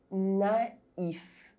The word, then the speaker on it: naïf: With AI, the diuresis on the letter I indicates that you must pronounce each vowel separately. Naïf.